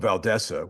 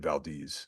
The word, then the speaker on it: Valdese: Damned Soul okay but valesa which you know think that's a better way of pronouncing it than Valdez you know valesa better way you I think that's the correct way of doing it um that and she